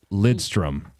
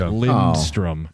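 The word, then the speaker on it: Lidström: There's a mystery N that people like to add and it's Lidstrom, but there's a lot of people I mean Tom going back in the day. Lindstrom.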